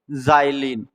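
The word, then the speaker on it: xylene: या तो एक्स को एक्स भी पढ़ सकते हैं या जा भी पढ़ सकते हैं। जैसे मैंने लिखा यहां पर एक्सरे और यहां पे लिखा क्या मैंने? जाइयलीन।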